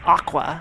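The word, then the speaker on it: Aqours: aor a q o RS uh but it's pronounced Aqua I found out um they're like a love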